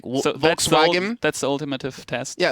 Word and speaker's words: Volkswagen: So if you ever hear like someone say Volkswagen, in English it's Volkswagen, in German it's Volkswagen.